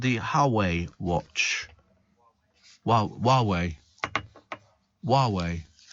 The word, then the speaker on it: Huawei: It's called the Huawei watch. Huawei. Why has it got an H at the beginning? Who are we? Is that the same as who are we?